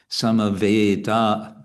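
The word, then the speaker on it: samavetā: And then in the next line, we have two short syllables because they're followed by single consonants. Sama, samaveda. So again, a is always long. And then a is going to be long. So samaveda.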